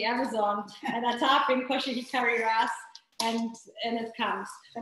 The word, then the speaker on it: Koshihikari: But now I go to trusty Amazon and I type in Koshihi curry rice.